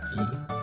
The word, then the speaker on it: gi: Gi. What a style. Gi. Is that GI then looking, or? No, gi, like martial artists.